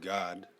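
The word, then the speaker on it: גד: Which in the Hebrew is pronounced God, God, and yeah, Gad is a warrior tribe.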